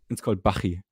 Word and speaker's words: Bachi: I mean, it's a German name, so neither of it is right. Yeah. It's called Bachi. Okay. Bachi. I feel Like like Johann since no one- Sebastian Bach, right?